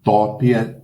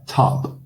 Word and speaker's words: top: Não é top, em inglês é top, top, como se fosse um A com acento, tá?